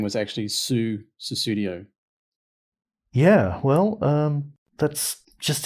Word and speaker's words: Sussudio: pseudo um but it's it's susudio not just sudo so yeah as Lenny